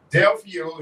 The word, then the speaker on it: Delio: the day is that Delio is pronounced like Romeo and you should not